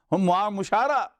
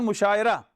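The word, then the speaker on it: مشاعرہ: Muamala, musha'ara, mushara. From here you come to the correct pronunciation of, it's not mushaira.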